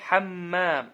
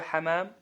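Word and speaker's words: حمّام: вот ударение там идет на букву мин, да? Хаммам. Это что у нас? Ванна. Аль-хамам. Что такое хамам? Это голубь. Да, хамам, если без таждида говорите, без удвоения. Это голубь.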